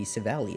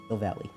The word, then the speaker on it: Silvally: So it would have to be Savali, I think. Silvally. How do you spell that? S-I-L-V. S-I-L. I thought it was like a Savali with a C.